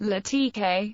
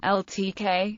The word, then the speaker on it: LaTeX: latex is usually pronounced lat TK or ltk in English the characters t e x in the name come from Capital Greek letters Tao Epsilon and Kai as the name of